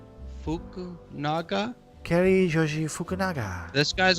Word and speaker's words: Fukunaga: No, say it like Fukunaga.